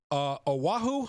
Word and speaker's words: Oahu: Beverly is it Oahu, Hawaii? And you're on with John Funn. Beverly, did I butcher the pronunciation of your city?